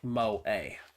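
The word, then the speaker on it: 萌え: Also can be used to refer to the culture of entertainment centered around characters who possess such traits, pronounced moe.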